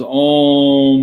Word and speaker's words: Om: By constantly remembering Om, the A and U become one sound and submerge into the which is where it came from. The pronunciation becomes Om, Om, Om, Om.